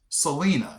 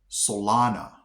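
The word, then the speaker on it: Celina: Okay, everybody and their mother probably would have called this Selena, you know, like the singer. Selena. It's actually pronounced Solana.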